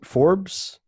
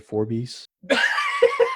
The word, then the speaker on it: Forbes: ah it's pronounced for Forbes fo our BES Forbes yeah oh my god man you know many times I said four beasts oh my god uh